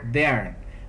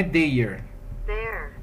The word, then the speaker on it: there: americana Você pode inclusive colocar como lenta a pronúncia vamos E aí e olha que eu falei der não é Dire vou colocar na britânica é mais aberto não